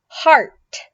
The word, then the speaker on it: heart: Heart. Heart. So it's similar to arte. Art. Art. Heart and art.